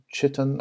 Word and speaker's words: chitin: a ridge of horn, chitin, I believe it's pronounced chitin or chitin, which is a horn-like material, or keratin, which is what horn is made out of, I believe.